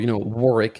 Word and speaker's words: Warwick: No, there are 2 other self-stun mechanics in there, and there's Malzahar and Warwick. Or, Warwick if you're British and you actually know how to pronounce the name correctly.